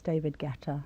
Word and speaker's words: Guetta: I think that U is silent. I think it's David Guetta.